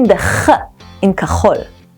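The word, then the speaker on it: כחול: Blue in Hebrew is kachol. Try and say it. Ka-chol. The tricky part is pronouncing the ch in kachol. Try coughing and feel the back of your throat.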